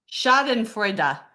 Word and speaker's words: Schadenfreude: You're back, and your voices, and I think you had it right because Sarah claims it's pronounced. Say, Sarah. Schadenfreude. Is that what you tried to You say? mean I actually said that right?